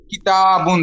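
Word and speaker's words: كِتَابٌ: বাবুন, হ্যাঁ, আর বই, কিতাবুন স্যার, কিতাবুন এখানে জবর এবং আলিফের মাদ, জবর এবং আলিফের মাদ।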